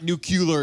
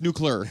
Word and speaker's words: nuclear: in the comments like it's not nukular, it's nuclear.